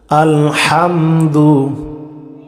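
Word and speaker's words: الحمد: আমার সাথে সাথে আলহামদু আলহামদু লিল্লাহি রব্বিল আলামিন আলহামদু হা গলার ভিতরে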